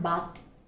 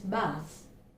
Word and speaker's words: bath: It's not bath, it's bath. Bathroom, bathroom.